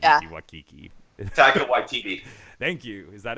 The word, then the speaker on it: Taika: It's definitely not Taiki Yeah. Waititi. Taika Waititi.